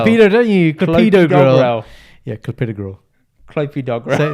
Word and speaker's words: Clopidogrel: Clopidogrel. Yes! Dickhead. Clopidogrel, mate. Not Clopidogrel. There's no dogs here. Clopidogrel.